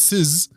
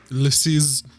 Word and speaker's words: Suze: Well, the pronunciation is Sizz. Sees. Else's. Le Sizz. It's French.